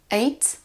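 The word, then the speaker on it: ate: beau verbe irrégulier donc c'est la même prononciation que le second aussi qui veut dire 8 ait ait on a souvent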